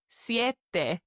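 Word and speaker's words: siete: Ciet. Two very clear syllables there.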